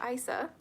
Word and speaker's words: Isa: And we have Isa or Isa. This is what it looks like. ISA is how you spell it.